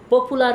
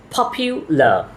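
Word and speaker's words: popular: বাংলা ভাষাভাষী যারা রয়েছি তারা আমরা এই ওয়ার্ডটিকে পপুলার বলি কিন্তু এটার সঠিক উচ্চারণ হল পাপিউলা পপ ইউলা পপ ইউলা they are very পপিউলা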